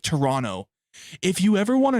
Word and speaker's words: Toronto: They don't You don't pronounce the T. It's Toronto, not Toronto.